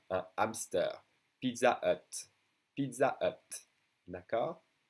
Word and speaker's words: hamster: H, which is mostly silent in French, as in un hamster, un hamster.